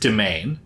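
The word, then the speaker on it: demesne: it's spelled D E M S ne pronounced domain.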